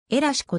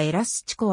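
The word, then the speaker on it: elástico: だとも言うエラシコ正しくはエラスチコあるいはえら 7 個と発音する足のアウトサイド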